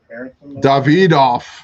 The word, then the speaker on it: Davidoff: Davidoff, Roger, pronounced with a Hispanic David.